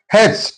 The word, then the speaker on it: hatch: Hatch, T is silent here.